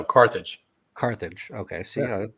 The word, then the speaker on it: Carthage: say it wrong but it's cartage no carthage carthage okay so yeah